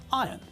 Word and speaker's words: iron: There is an R in the word iron, but when we pronounce the word correctly, then we pronounce it as iron.